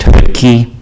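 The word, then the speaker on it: Choutka: It's pronounced Hootke, C-H-O-U-T-K-A. C-H-O-U-T-K-A.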